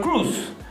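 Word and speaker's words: Kroos: I think he would obviously take Cruz's Cruz's spot because people are saying I it's not Cross, it's Cruz.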